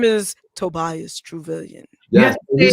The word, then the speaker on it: Truvillion: Yeah, and your name is Tobias Truvillion. Yes, you said it right. And Billion, trillion, Truvillion.